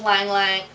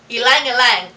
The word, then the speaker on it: Ylang-ylang: it would go awesome with Lang Lang. Ylang-ylang. He also taught me how to pronounce it.